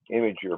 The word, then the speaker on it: Imgur: But I do like to use this Imgur website. Imager, my kids tell me it's pronounced, and I have not been using it for a lot of years.